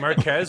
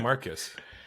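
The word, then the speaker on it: Marques: Is it Marquez or Marcus? I think it's Marquez. Okay, I said Marquez Brownlee. Yeah, and Will Smith pronounced it like Marcus Brownlee, and so everybody in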